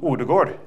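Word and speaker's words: Ødegaard: me this word, Martin Odegaard. Did I get his name right? Yeah. Oh. He yelled at me for pronouncing the D at the end of Odegaard. So I said, Odegaard, okay. This football, when you kick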